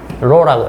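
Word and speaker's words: ρ: 그래서 이거 상수값을 넣어 주면 요렇게 되겠죠.이 이 상수를로 표현하면 로라고 읽으면 돼요.로 어 그리스자입니다.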